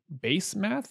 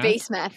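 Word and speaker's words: Basemath: hittite wives judith and base math if i'm going to use the american accent i'm sure that's pronounced differently in hebrew but i like base math let's call her that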